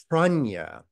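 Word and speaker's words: prajñā: And panya is the Pali pronunciation of pranya, the Sanskrit word pranya for wisdom.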